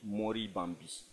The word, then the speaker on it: Monribambi: Sinon, en fait, la prononciation, c'est en langue Bariba. Et ça veut dire Mori Bambi.